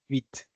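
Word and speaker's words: Vite: yeah something like that so vit now is a French uh W or quick and it's most cases pro pronounced as vit and uh it's a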